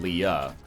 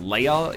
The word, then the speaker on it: Leia: a bomb and get Leah not Leah it's actually pronounced Leia in the original Skywalker script onar at the George